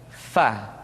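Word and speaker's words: ف: Diucapkan dengan menyentuhkan ujung dua gigi seri kita bagian atas dengan bibir bawah bagian dalam. Fa. Seperti kita mengucapkan huruf F di dalam huruf Latin.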